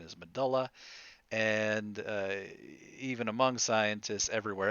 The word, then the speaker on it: medulla: is so prevalent that many scientists actually say medulla oblongata now the correct pronunciation is medulla and even among scientists everywhere else in the body outside of the medulla oblongata we pronounce it medulla all right now these are also epinephrine norepinephrine